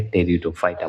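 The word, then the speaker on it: Pteridophyta: टेरिडोफाइटा बोला जाता है, या देखिएगा पी इसका में साइलेंट होता है, टेरिडोफाइटा बोला जाता है।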